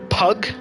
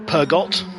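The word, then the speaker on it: Peugeot: He's 17 seconds behind Jason and a minute or so ahead of Klaus, the German, in the orange Pug or Purgot, depending on your pronunciation.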